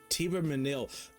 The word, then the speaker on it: Thibermesnil: Thibermesnil. I'm never gonna remember how they said that because that's not how it's spelled.